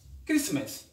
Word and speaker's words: Christmas: let's dive in um the letter t is silent in these common words examples castle a castle